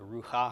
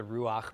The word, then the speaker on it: Ruach: be underneath the hay so before you think everybody's pronouncing it wrong and they should be calling it you know the Rue ha ha kodesh it is in fact the Ruach because of this particular rule and it applies to